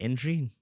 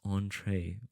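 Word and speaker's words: entrée: we have what's that is it entry no it's it's not it's entree wow look at me I polyon I'm speaking French what can I say so the order of isushi the entree is gred bacon and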